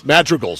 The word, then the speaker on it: madrigal: done by the cony madreal or madreal I'm not sure how they pronounce it up here in the booth a I think it's Madrigal Madrigal okay thank you AJ musical term I believe Madrigal okay I'm I'm out